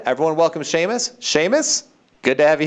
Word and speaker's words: Séamus: And no, it is not Samus, and it's not Seamus. It is Séamus.